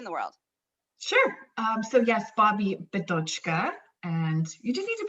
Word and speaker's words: Bobbi Bidochka: So yes, Bobbi Bidochka, and you just need to pronounce it a couple of times, and then the mouth remembers.